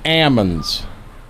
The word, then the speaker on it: almond: And then somewhere out in there, we went to I've always called them almonds. The farmer there called them almonds. Said the L is silent.